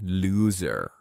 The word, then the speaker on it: loser: I am saying looser with an S sound, which is an adjective meaning less tight. It's important not to confuse this with the noun loser, which has a Z sound and means a person who failed to win. So, looser means less tight,